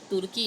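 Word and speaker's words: Türkiye: इसमें टर्की लिखा हुआ है पर तुर्की है प्रॉपर प्रोनाउंसिएशन, इसमें स्पेलिंग मिस्टेक है।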